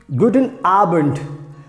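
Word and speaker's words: Guten Abend: the next word is good in arbent again this d will be pronounced like t so good in arbent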